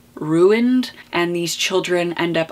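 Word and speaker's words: roont: They eat something, some energy within the children that results in them being ruined, R-O-O-N-T, pronounced like ruined, and these children end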